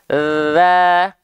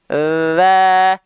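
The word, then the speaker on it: ذَ: sifat mengalir suara maka cukup sentuhkan tipis-tipis biar aliran suara dari huruf dalalnya dia mengalir dza kelihatan Enggak Hah dza dzi du kedengaran ada suara ngalir Z tuh ya dza dzi du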